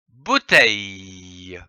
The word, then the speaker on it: bouteille: B O U bou t E I lille l e le que l'on prononce bouteille.